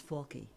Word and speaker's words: Falke: the bat f a k how do you pronounce that that's faly faly yes okay I wasn't sure if it was faly faly folk I I had no idea so I I